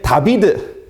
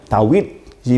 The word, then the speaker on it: 다윗: 발음한다라는 것을 보면 알겠어요 근데 다비드 하면은 이제 그거는 좀 라틴겠죠 유럽 쪽에서 하는 거고 다비드상이라고 하잖아요 근데 그게 아니라 오리지날에는 히브리어에서는 다윗이 맞습니다 그래서 w 발음처럼 u 발음처럼 나는 것입니다 어쨌든간에 각